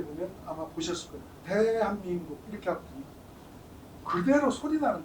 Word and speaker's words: 대한민국: мы произносим это слово, мы делаем акцент именно на первом слоге «Т». 여기에서 이렇게 한번 바뀌는 겁니다. 소리가 달라졌죠. 네, 소리에 따라서 글씨의 크기가 달라집니다. 그 다음 단계를 보면요. 저기서 또 이렇게 바뀝니다. 대한민국.